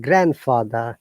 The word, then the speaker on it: grandfather: So any word that has got grand and another word, we do not pronounce letter D. So grandmother, grandfather, grandchild, grandson.